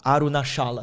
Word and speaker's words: Arunachala: essa montanha que lugar bonito como que é arunachala arunachala se escreve com ch arunachala Esse é o lugar